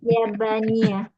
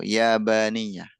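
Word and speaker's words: يابانية: Kenapa enggak Kenapa enggak Japan? Jadi ee secara pengucapan tuh orang Arab mungkin agak kesulitan gitu ya kalau bilang apa? Jepang. Japan itu sulit. Mereka kan enggak ada huruf P adanya fa ya kan. H fa sama pa itu kan beda.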